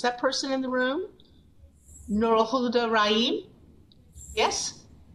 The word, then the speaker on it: Nurulhuda Rahim: Nurul Huda Rahim? Yes? Did I get your name somewhat right? You did great, but you can just call me Nurul.